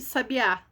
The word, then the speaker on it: sabiá: Contudo, sabia não leva acento, sábia leva acento no sa e sabiá leva acento no último a. Então, o sabiá é oxítona.